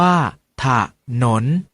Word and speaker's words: ถนน: เสียง ว่า ทหาร อยู่ ถนน ออก เสียง ว่า ถ้า ถนน แต่ ฉลาม ออก เสียง